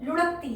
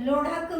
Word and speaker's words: लोढ़ा: जो जिज्ञ है वो लुढ़क्ति है लुढ़कती है तो लोधन में भी जैसे लोग ढकनी का थानी बोल सकते आप लोढ़ा को बोलना होगा तो यह वही वाला